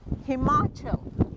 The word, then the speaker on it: Himachal: And spirit of, tell me the right pronunciation. Himachal.